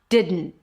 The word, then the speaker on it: didn't: Didn't didn't. We have did. And then it's a D. And then you release the air through the nose. That's technically the N. And then you stop it abruptly. That's the T at the end.